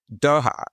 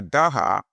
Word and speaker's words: Dhur: Dhur is spelled as D-H-U-R, or sometimes spelled with a Z, Z-H-U-R.